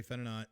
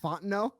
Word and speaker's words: Fontenot: uh taking on terry fennernot uh the saints assistant gm vp of pro personnel so uh definitely you mean fontenot not whatever haunt no the t is silent see this is we're